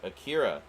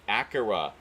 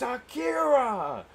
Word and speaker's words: Akira: and um he um he kept pronouncing it acura which i get it he he's a weeaboo as many of us are but um that that's not how it's pronounced like he was trying